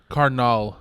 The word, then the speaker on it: carnal: Carnal, but you have to roll the R's.